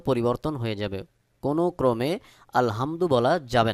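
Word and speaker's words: الحمد: উচ্চারণের সময় যদি আপনি আলহামদু বলেন তাহলে অবশ্যই এখানে অর্থ পরিবর্তন হয়ে যাবে কোন ক্রমে আলহামদু বলা যাবে না সহি উচ্চারণ হলো আলহামদু হলকের মধ্যখান থেকে এই হা উচ্চারণ করতে হবে সহি উচ্চারণ হলো আলহামদু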